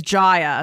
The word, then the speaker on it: Jaya: So her name rhymes with Maya. It's Jaya. So I'm saying that for myself, because I have other friends that have their names spelled the same way that are pronounced differently.